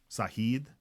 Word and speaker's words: Sajid: the farm Sajid SoDo sahid is Spanish right the J is silent all right folks things